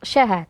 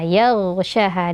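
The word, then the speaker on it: يغشاها: huruf fathah, *yag*, dan kemudian huruf ghain ini memiliki atribut jahr dan rakhawah . Ya, jadi tidak ada aliran napas tetapi suara yang mengalir, jadi jangan hanya membacanya sebagai *yagsyaha*. Tapi biarkan suara itu mengalir dulu, *yagha*, *yagsyaha*, dan jangan lupa untuk mempertebalnya.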